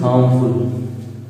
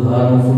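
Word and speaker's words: harmful: मैंने एग्जाम्पल लिखा है smoking is हार्मफुल, smoking is हार्मफुल। बहुत लोग हार्मफुल बोलते हैं, ध्यान दीजिएगा कि ये हार्मफुल होगा, हार्मफुल, हार्मफुल, यहाँ आर साइलेंट रहेगा, साइलेंट रहेगा, ठीक है।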